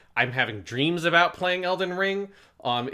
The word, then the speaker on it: Elden Ring: stress unstress on stress every actress calls it elden ring it's not elden ring it's elden ring so be very careful